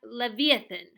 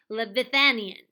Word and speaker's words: leviathan: bit was totally brilliant the word is la vía leviathan not liveth an Ian they attempted the scene